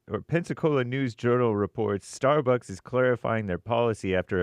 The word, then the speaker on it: Starbucks: Starbus. Starbus. No, sorry. It's Starbucks.